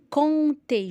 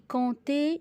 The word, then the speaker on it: compter: Compter. Je dis compter, je dis pas compter. La lettre P est muet.